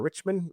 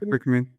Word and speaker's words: Alan Rickman: Uh Alan Rickman or Richmond or Rich Okay, Rickman. Yeah.